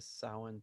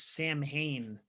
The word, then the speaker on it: Samhain: Yeah, well, I mean, if you look at the way that it's spelled and you don't know any, you think it's Samhain, but it's not pronounced that. Samhain. Yes, Samhain, which, of course, like an idiot, I thought it was for years until I was like, then I heard the real pronunciation.